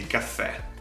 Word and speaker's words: caffè: Secondly, although it's internationally called espresso, we in Italy informally call it simply caffè. Remember the double F and the accent on the E.